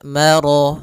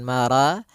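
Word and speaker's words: مرج: atau di antara keduanya maka rya tebal maro bukan mara tapi Ya, maro sempurnakan lafal rya marajal.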